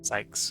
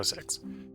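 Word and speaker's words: Syx: Um, and and by six, it's S YX. I'm can't quite get the pronunciation of that X out there. Sykes or whatever you want to refer to it. I go six.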